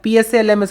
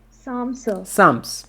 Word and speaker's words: psalms: his collection later days psalms please silent correct here psalms how do you pronounce sam india's national academy of